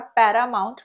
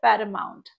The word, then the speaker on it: paramount: দেখো, এই ওয়ার্ডটাকে কিন্তু আমরা প্যারামাউন্ট বলছি না, আমরা এটাকে সঠিকভাবে উচ্চারণ করব প্যারামাউন্ট।